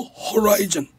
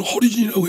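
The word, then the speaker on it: Horizon: 더 호라이즌이 아니고 뉴 호라이즌. 저 있잖아요. 우주선. 그게 9년 6개월을 달려서 명왕성을 갔어요. 그거 모르십니까? 아니요. 호라이즌. 아니 그 발음이 너무 재밌어가지고. 호라이즌이 아니에요. 한번 웃어야 되겠다. 호라이즌. 네, 이종걸 대표는 허리즌이라고 했는데요.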